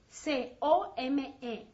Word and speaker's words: come: Now, venir se escribe C-O-M-E, pero se pronuncia como si fuera C-A-M-E.